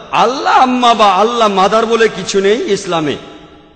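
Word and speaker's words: الله: যে ভাই স্কফিল্ড একমত উচ্চারণে কিছুটা পার্থক্য তারা বলে আলা আমরা বলি আল্লাহ উচ্চারণ কিছুটা আলাদা তবে শব্দ দুটো একই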